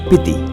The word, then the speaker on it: Spiti: The word Spiti is pronounced as Piti in local language, which literally means middle country.